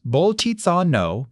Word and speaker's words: Bolzano: In 1817, in Prague, a Catholic priest and mathematician named Bernard Bolzano, that's pronounced Bolzano, published a paper with one of the great mathematical titles of all time.